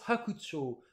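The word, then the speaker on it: 白鳥: Et ben, je vois, ça s'écrit avec le kanji de blanc et de l'oiseau, et ça se prononce « hakucho ».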